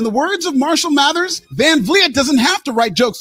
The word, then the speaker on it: Van Vliet: Dude, he butchered that name. It's Van Vliet.